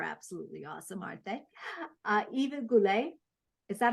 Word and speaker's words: Goulette: Eva Goulette. Is that how I pronounce it, Eva? And actually, I pronounce it Eva Goulette.